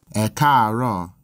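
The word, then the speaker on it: Ẹ káàárọ̀: Note that if there's more than one tone in one syllable, then the vowel is normally written once for each tone. These three A's are all part of a single syllable, but with a high-low-high progression.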